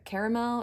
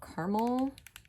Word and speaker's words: caramel: born and then uh caramel or caramel depending on how you pronounce that o that um